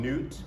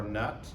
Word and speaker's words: Nut: And so in UT, we'll call him Newt or Nut. I don't care what you call him in terms of pronunciation.